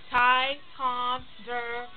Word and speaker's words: Ticonderoga: Ticonderoga.